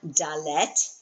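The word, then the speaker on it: דלת: Your second one dallet. Dallet. You see it's one syllable. It is. And I got to put my hand over there cuz I'm already going down to the next row. Um and your second syllable is let.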